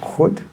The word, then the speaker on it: goed: Goed.